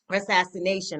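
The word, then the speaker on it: Rassassination: Assassination. I'm sorry. Let me Mm-hmm. make certain I put that extra syllable in there. And so how was it working with Dr.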